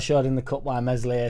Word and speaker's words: Meslier: Darlow showed in the cup why Meslier Silent S is our number 1.